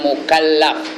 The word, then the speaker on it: mukallaf: tiap-tiap orang Islam yang mukalaf sebut betul-betul mukalaf bukan maklab yaang balik ke rumah k maklab bacanya mukalaf tulis r m k